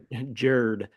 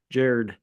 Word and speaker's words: Gerd: It's spelled GERD, but it's pronounced Jared. Jared. Yeah, it sounds like Jared when you say it, but yeah, GERD.